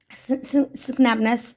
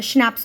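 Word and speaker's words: schnapps: हैं सोल्जर्स के लिए, वी हैव स्नैपनेस, सॉरी ये प्रोनाउंसिएशन में थोड़ा सा मुझे भी वो हो रहा है, स्नैप्स बोलेंगे इसको, ठीक है।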